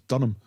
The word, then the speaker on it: Dunham: It's not Durham, it's Dunham.